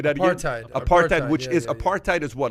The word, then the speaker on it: apartheid: oppressive uh uh uh uh how do you pronounce that word apatite regime which say that apartheid which is apartheid is what like you know